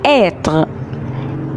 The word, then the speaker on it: être: نفتح بقنا كده هوت خالص واحنا بننطقه، عشان النطق او الصوت اللي طالع من الحرف ده هيبقى مفتوح قوي قوي. être être، لازم بقنا يبقى مفتوح كأننا عاملينه على شكل مربع شوية.